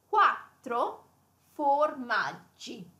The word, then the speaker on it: quattro formaggi: That is pronounced quattro formaggi.